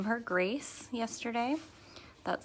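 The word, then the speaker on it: Grayce: we did name her Grace yesterday that spelled GRA Y C II so like the color but we're pronouncing it grace don't be too crazy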